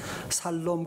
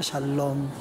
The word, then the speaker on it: 샬롬: 살롬 그러면 안 돼요. 샬롬 발음을 잘 하셔야 됩니다.